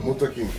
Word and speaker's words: Muntaqim: Jalil Muntaqim, 3 syllables.